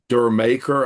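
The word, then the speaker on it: D'yer Mak'er: And uh Dur maker, I think it's how it's pronounced, is actually like Jamaica.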